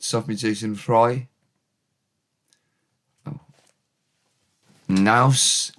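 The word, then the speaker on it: naws: Naus, n a w s, rhymes with cow's cheese. Naus is atmosphere, feel.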